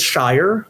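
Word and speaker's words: Sharar: Now, when you see him on the bowl game, Vandy fans, his name is spelled S H A R A R. Uh but it is Shire. Um just like the Lord of the Rings thing.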